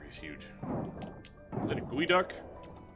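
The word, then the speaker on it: geoduck: huge is that a GU duck it's not geod duck I can tell you that much it is a very wrong pronunciation oh good those there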